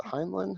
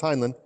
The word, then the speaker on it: Heinlein: we'll do Robert Heinlein just mispronounces name is a Heinlein no it's Heinlein yeah cool if you